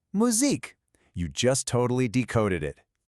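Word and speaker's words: musique: We start with that tricky ooh sound we practiced at the very beginning. Moo. Then we have seek. And what was our rule for that final e with no accent? It's silent. So the whole word is simply muzzik.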